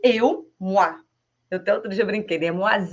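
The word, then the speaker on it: moi: Se você tiver fora do contexto, ela fala assim: "Moá, eu ou mo a ve s. Então m o i moa eu m O i s.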